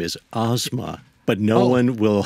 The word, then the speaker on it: Asma: And the proper pronunciation of my name is Asma. But no one will spell it correctly, so we have to say asthma.